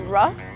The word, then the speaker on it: rough: Rough, tough. What's the sound? Rough, tough. It's an uff sound. Yes, like the word puff or cuff.